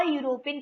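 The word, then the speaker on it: European: Then Gurmeet studied in एंड अ यूरोपियन college.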